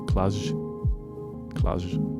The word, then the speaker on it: Cluj: how to pronounce um klaj the city where ruben is from think of measure is the last sound so clash and it looks like